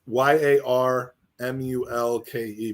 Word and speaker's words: yarmulke: It's y a r m u l k e but it's pronounced yarmulke.